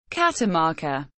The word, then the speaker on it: Catamarca: Catamarca, Spanish pronunciation, Catamarca, is a province of Argentina, located in the northwest of the country.